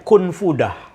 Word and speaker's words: Kunfudah: Itu kalau ijtihad kami gitu, ketika membaca ini, 4 huruf terakhir itu kita membacanya Kunfudah.